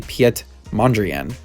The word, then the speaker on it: Mondrian: i'm very upset because it turns out that he is dutch not french and it's actually piet mondrian so i don't know